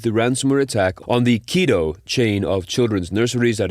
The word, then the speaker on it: Kido: in connection with the ransomware attack on the Keo chain of children's nurseries that is spelled Ki D O.